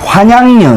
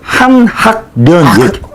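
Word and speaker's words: 환향녀: 아, 환양년. 환양년. 나는 발음을 한학년. 나를 이상하게 만드네. 그냥 내가 몰랐었어요. 깔끔한 거를.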